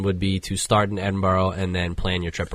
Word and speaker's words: Edinburgh: Way They Don't Really they don't pronounce their consonants okay so it's almost like Edinburg like it just kind of cuts off so once you